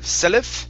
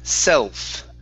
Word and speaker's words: self: now that we're there instead of selif it's self self same very good okay and